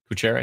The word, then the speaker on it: Kuchera: ratio on which is called uh kuchera I think is that you pronounce it Liam is it cuchera I don't think I've ever said it out loud kuchera yeah okay so we're looking at